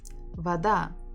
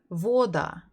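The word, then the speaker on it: вода: to read by yourself so if it will be stressed on the first syllable you would read it as Voda Voda doesn't is not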